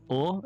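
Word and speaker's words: を: I should always just say or, not or. Exactly. Right. You can drop the W sound. It's pronounced simply as O.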